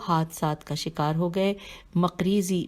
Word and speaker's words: مقریزی: مقریزی میم قاف رے یہ زے چھوٹیے اپنی کتاب الخطۃ المقریزیہ ہجے کرتے ہیں.